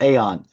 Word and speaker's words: Eon: So 25th of the Aeon Productions, spelled with Eon but pronounced Aeon.